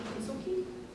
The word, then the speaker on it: Kintsugi: like traditions from Japan, for instance, I think Kintsugi, or did I say it right?